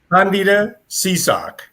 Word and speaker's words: Candida Seasock: Her name, and I'm going to teach you how to say the name. Okay. It's Candida Seasock. Or Candida, but Candida it took me about a year.